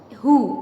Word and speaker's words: who: अब इन वर्ड्स में, इन 3 वर्ड्स में W की साउंड बन रही है, बट इन हु here W is silent. ठीक है? इसको हम who पढ़ेंगे. ओके?